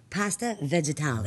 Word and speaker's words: pasta vegetali: today I'm here with Michael DiPaolo, and I am excited to say I'm going to learn a new dish, pasta vegetali.